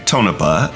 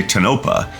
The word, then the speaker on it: Tonopah: Yeah, I'm not really sure if that's the correct pronunciation of the town, as some locals say Tonopah and others say Tonopah.